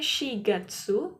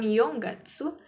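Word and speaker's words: 四月: Bulan 4 itu pengucapannya shigatsu bukan yonggatsu.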